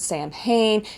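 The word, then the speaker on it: Samhain: New Year you know Halloween or saen I know um uh some people pronounce it Sam hanne in America we call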